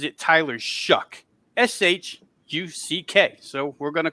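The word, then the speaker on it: Tyler Shough: He pronounces it Tyler Shuck, Shuck.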